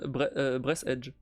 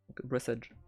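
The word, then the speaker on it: Breathedge: a plus briisage euh j'ai appris d'ailleurs que briisage se prononce pas briisage s'appelle se prononce breess Edge breess Edge euh pour info voilà par que parce que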